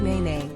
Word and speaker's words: nēnē: Hawaiian Goose or na the name na ne comes from the Hawaiian language pronounced n NE mimicking the sound of the Hawaiian Goose's call unlike the loud honk